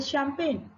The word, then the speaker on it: champagne: जैसे champagne, the letter G is silent.